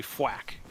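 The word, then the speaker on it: Fuack: Fuak? What? It's a duck. It's like it looks like it's F-U. Oh, it's effectively Fwack. Whack. It's like an FW. Oh, instead of quack.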